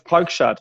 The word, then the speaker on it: Preukschat: And it's Preukschat.